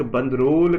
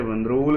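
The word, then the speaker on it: Bandrol: एक बंदरोल करके विलेज है। ठीक है? बंदरोल करके विलेज है। पता नहीं अब मैं ठीक बोल रहा हूं कि नहीं बोल रहा हूं। बंदरोल ही बोलते हैं इसको।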